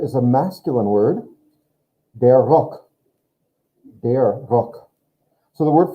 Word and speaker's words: Rock: Der Rock. Der Rock. So the word for necktie is feminine, die Krawatte. The word for skirt is masculine, der Rock. Just like the word rock, but just pronounced differently.